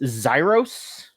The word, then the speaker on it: Xyros: And joining us this time is please tell me if I mispronounce this. This is just Xyros.